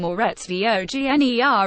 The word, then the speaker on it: Moritz Wagner: weekend at Staples Center Moritz vogner is truly one of a kind the junior forward who pronounces his name more Rhett's vog ner according to the immediate guide and who has grown